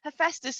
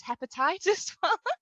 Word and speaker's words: Hephaestus: so hephaestus which i now know how to pronounce roughly hephaestus and percy jackson for a really long time i can't believe i've mentioned this on like in a public route for a really long time was hepatitis i was waiting for it i was like